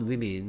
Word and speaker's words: women: 그 다음에 요거 발음을 학생들이 잘 모르더라고. 자, woman, women입니다. woman, women. 뭐 모르겠으면 한번 써두는 것도 좋겠죠. woman, women이라고 발음합니다.